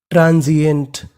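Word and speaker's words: transient: तो पूरी meaning ट्रांजिएंट। SI को यहाँ पे पढ़ेंगे जी।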